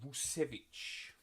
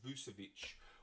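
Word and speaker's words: Vučević: Tyrese Maxey, Keontae George, and Nikola Vucevic. Or Vucevic. Whichever way you'd like to pronounce it.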